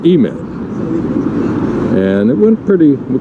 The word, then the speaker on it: EMED: Even though it looks like IMED, they pronounce it EMED.